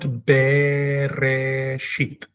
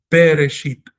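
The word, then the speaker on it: בְּרֵאשִׁית: It doesn't say, it doesn't have a tsere, it is not Bereshit. It doesn't have a segol, it's not Bereshit. It's got a shva, which means pronounce this consonant naturally, as if it did not have a vowel, which it doesn't. Instead of be, we say be. Bereshit, Bereshit, Bereshit, because the letter is Beith.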